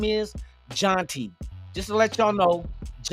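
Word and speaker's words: Jeanty: Jean is Jean the way they pronounce it in the French. You know what I mean? So I looked at it. I'm like, yeah, we've been saying his name wrong. It's not Genty. It's Jonty. Ashton Jonty.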